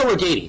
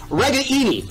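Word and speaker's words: Ragaini: neck of the woods it was nico organi that's what we've called him for the last four years we found out yesterday in the press conference we've been saying his name wrong for four years and his dad's mad about it it's an italian name we got to get it right so it's reggae eenie and we got to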